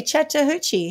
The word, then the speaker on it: Chattahoochee: in the mountains oh my god of the Chattahoochee National Forest would you reckon you've mispronounced it's not easy you know uh no chatter c h a Double T H double o c h e Chattahoochee how else would you say it maybe throw